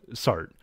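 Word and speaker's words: Sartre: week and that is jeona SRA or as it's usually pronounced in America sart and so sart is going to have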